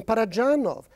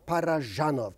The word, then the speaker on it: Parajanov: I make no claims it is not dj it is d z par it's not Serio